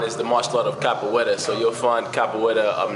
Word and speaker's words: capoeira: you spell that capoeira c-a-p-o-e-i-r-a c-o-p-o-e-i-r-a exactly yes um it's pronounced with a portuguese accent so capoeira capoeira okay what's your